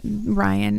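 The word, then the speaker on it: Raihn: Uh, I want to say Rain in my head. However, uh, I need to know that Ryan is the correct pronunciation.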